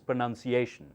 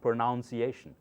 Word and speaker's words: pronunciation: number one problem is pronunciation so listen carefully it's not pronunciation it's pronunciation okay so let's start this